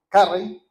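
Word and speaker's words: Carrey: Kim Carry, eh, Carry, así como se pronuncia bien en inglés, Jim Carry, un hombre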